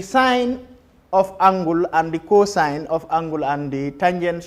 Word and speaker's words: cosine: Then the other one is cosine, is also abbreviated as cos, COS, but pronounced as cosine.